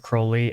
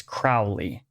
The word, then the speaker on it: Crowley: so black and white the names pronounced differently depending on where someone is in Great Britain and accents change over